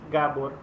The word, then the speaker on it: Gábor: pronounce your name correctly yeah it's Gabor Gabor okay so so all right all right so the emphasis emphasis on the first syllable okay uh so you